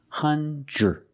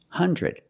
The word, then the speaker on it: hundred: We do not pronounce it hundred. We have two pronunciations. One is hundred. The DR together makes the j j j sound like juice and jump.